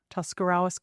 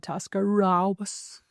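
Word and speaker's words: Tuscarawas: I was from in Ohio and I would mispronounce words like Tuscarawis, Tuscarawis County. And um is that the correct pronunciation or how would you That is the correct pronunciation. So I would Tascaras and Gennad Hutton and uh just like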